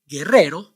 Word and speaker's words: guerrero: You don't pronounce the vowel U in all these words because the vowel U is after the consonants G, Q, and before the vowels E, I.